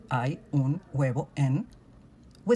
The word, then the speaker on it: huevo: In words like huevo, hueco, or hueso, where U is followed by another vowel in a syllable, the sound doesn't come from a plain U. Instead, it begins with a very soft G, kind of like saying huevo, but very smooth.